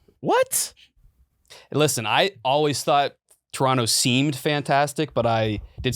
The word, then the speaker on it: Toronto: they're anti- Toronto you it's pronounced Toronto Toronto you don't you don't do the second T I don't believe yeah